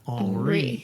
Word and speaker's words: Henri: So in English, Henry. In French, Henri.